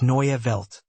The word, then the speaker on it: Neue Welt: The stress falls on the first syllable of newi, and the inwelt should be pronounced clearly. It's Neya.